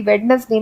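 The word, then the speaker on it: Wednesday: वेडनेसडे नहीं होता है क्योंकि वेडनेसडे में डी साइलेंट होता है और एक्चुअली में इसे हम बोलते हैं वेडनेसडे। तो वेडनेसडे करेक्ट प्रोनाउंसिएशन नहीं है।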